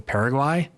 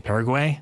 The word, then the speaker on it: Paraguay: I know that I have been mispronouncing Paraguay. I've been saying Para-guaye.